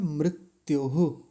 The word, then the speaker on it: मृत्युः: मृत्युहु, तो यहाँ गलती क्या हो जाती है, मृत्युहु, म्र ऐसा बोल देते हैं, मृत्युहु। और बहुत उच्चारण ये अशुद्ध किया जाता है मृत्यु बोल के, मृत्यु नहीं मृत्युहु ऐसा बोलेंगे, क्योंकि माँ के नीचे रेफ नहीं है, रिकार है, ऋष ऋषि वाला जो होता है।